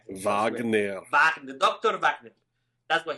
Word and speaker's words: Wagner: And just as a final thing, it's Wagner, man. It's a German word. You can pronounce it. It's not Wagner. That sounds like wag. Wagner.